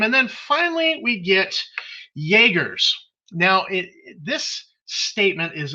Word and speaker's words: Jaegers: governmental accords and um it's jaeger's and it's spelled chuck like chuck yeager you know with a